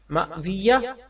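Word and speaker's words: ماوية: रख लिया जाए सवाल माविया नाम रखना कैसा है जवाब माविया मीम के बाद हमजा पर सुकून वाव पर जबर या मुश दद के साथ के मानी शफाफ पत्थर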